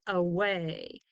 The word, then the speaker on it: away: This A up here is the schwa sound. Like in banana, because it's not stressed. It doesn't get the most sound when we say the word away.